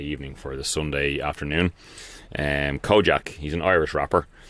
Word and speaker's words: Kojaque: Kojak, he's an Irish rapper. Kojak is spelled Kojaque, Kojak.